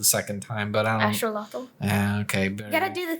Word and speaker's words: axolotl: Do you know we've all been saying axolotl the wrong way? What's the real way? Axolotl.